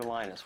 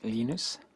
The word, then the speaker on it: Linus: Lennis or Lionus? What's the exact your preferred pronunciation? Um, when I speak Swedish, it's Linus. When I speak Finnish, it's Linus.